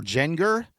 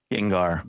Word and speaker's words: Gengar: According to claims circulating on social media, the trade involved a Japanese fossil uh is it Gengar or Genenger? Gengar.